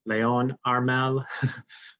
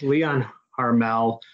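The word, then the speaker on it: Léon Harmel: the late 1800s so I think in French should be properly pronounced Leo Leon Armel but I'll just say it in English Leon harmel um so he was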